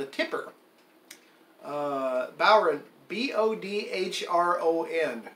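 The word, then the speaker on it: bodhrán: bauer Bodh ro end doesn't sound like it should sound like that but many years ago we had an Irish bowren player tell Jan how to pronounce it he said bow like the bow of about wrong like you're long so bow ROM is we were told it was pronounced you can stretch the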